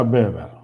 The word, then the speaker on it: Weber: Se pronuncia Weber, ¿sí? Aunque si vamos a la fonética más fina sería una B corta, una B larga, pero sí, es Weber, ¿sí?